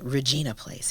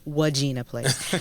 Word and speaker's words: Regina Place: I was born on Regina Place. I used to always say, I couldn't say it right quite with that R, so it was Wagina Place.